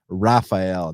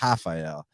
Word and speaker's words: Rafael: so just say oh no i know dos anos is brazilian but his first name is actually pronounced raphael not rafael so and interestingly enough rani yaya it's not